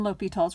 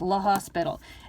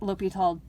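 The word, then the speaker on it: L'Hôpital: o the other one it looks like the hospital but it's not pronounced la hospital it is pronounced l'hopital so please pronounce it correctly and i know this doesn't tell you what l'hopital is does or anything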